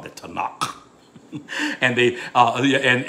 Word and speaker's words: Tanakh: and they uh and and everyone pronounced it they said tanaka you know t and k for the uh um um that's that's the hebrew bible it's called the tanakh the the uh torah